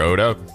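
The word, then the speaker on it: Ota: acting the game was when they pronounced oda's name they really had to hit the the t sound so everybody who gets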